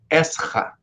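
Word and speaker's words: עזרא: No hebraico, Ezra, embora seja um R só, a pronúncia aqui seria Esra.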